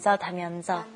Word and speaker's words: 다면서: And it's kind of hard to pronounce the 면서. And you got to get it rolling off your tongue. So practice that a couple of times. 다면서.